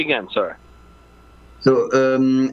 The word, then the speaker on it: Hugo: again sir so um I think English pronounce it Hugo oh Hugo with an H in like it start with an H yeah it starts with an H but in French it's mute so just say U but yeah can you